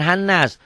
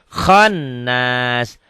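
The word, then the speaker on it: الخناس: Halo Mia syarril waswasil Khan bukan hannas khannas alladzi Nih kalau ibu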